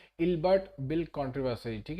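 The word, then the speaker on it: Ilbert: आया था ठीक है अल्बर्ट बिल नहीं है ये इल्बर्ट बिल है स्पेलिंग मिस्टेक हो गया है ठीक है अल्बर्ट नहीं है इल्बर्ट बिल है ठीक है आई एल एल ठीक है इल्बर्ट बिल है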